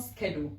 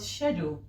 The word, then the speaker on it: schedule: it's very controversial but it's not it's not schedule it's called shadow i don't know if americans have a way of pronouncing it or people just made it up as schedule is actually called shadow there are many words